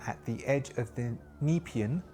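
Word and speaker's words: Nepean: the edge of the nepan I keep saying it wrong uh I think it's nepan NE e p a n nepan the nepan river to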